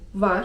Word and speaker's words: var: 'Jest' to po turecku: var (czyt. war) var (czyt.